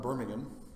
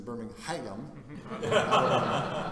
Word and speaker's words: Birmingham: which I am president it's not in Birmingham it's in birmingh ham it's an extra syllable and the empasis is elsewhere the accent is different um we're in Birmingham